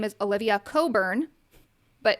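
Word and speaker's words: Cockburn: Legal name is Olivia Coburn, but it's has a nasty spelling. It's spelled Cochburn, but pronounced Coburn, right?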